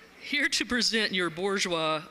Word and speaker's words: Bourgeois: here to present your Bourgeois I've been told that there's a that you got to pronounce that R it's important and it's my job